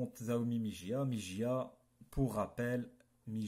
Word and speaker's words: Xiaomi: Et aussi, on m'a dit de dire, c'est Xiaomi. Mais moi, je vais dire Xiaomi, ça s'écrit avec un X.